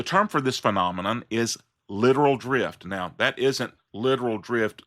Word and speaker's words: littoral: Though the pronunciation is pretty much the same. The term here looks like it should be pronounced littoral drift. But it's actually correctly pronounced littoral.